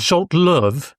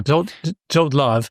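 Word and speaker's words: Zsolt Löw: wins from 2 under, do I pronounce this as Zolt Love? Yeah, that's fine. Yeah. Zolt Love, under Zolt Love.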